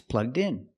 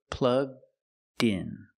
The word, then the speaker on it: plugged in: It's plugged in. The D sound at the end, plugged. Link with the next word, in. So you hear din din. Together, plug din. plugged in Together, it's plugged in.